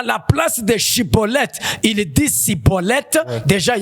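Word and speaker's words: Shibboleth: Il fallait que cet homme prononce Shiboleth. Et par sa manière de prononcer, on allait comprendre si réellement il est Éphraïmite ou il est Galadite.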